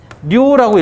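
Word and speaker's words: 了: 요거는 무슨 자예요? 료라고 읽어요. 료. 마치다 그런 뜻이에요.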